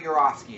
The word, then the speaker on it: Yourofsky: It's called The Best Speech You'll Ever See, I think, by Gary Yourofsky. It's spelled like your, Y-O-U-R-O-F-S-K-Y.